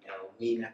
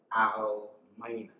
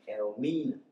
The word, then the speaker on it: Elmina: So they named the area Elmina, and that means the gold mine. But this was corrupted or mispronounced to be Elmina, and that has come to stay.